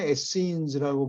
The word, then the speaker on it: Essenes: 발음 한국 영어로는 Essenes라고 부르는데 한국에서는 SNA라고 그러는 것 같아요.